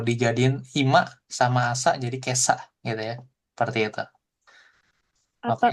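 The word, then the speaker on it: 今朝: Oke, jadi ini ima sama asa dibacanya jadi kesa.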